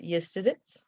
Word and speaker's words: Yesizits: And she wants to point out that she pronounces it Yesizits. It's very important that it's 3 syllables. So when you're writing sonnets and such, just so you know, it's Yesizits.